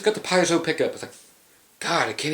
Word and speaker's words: piezo: did the graftec piezo it's not piezo or anything it's p like you get a p a like you're from canada then zou that's how you pronounce it piezo get your [ __